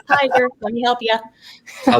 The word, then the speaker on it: Tiger: for some reason but i had so many interesting pronunciations of my name that i thought well let me help people out because i to get to share tigger to gray i'm like tiger let me help you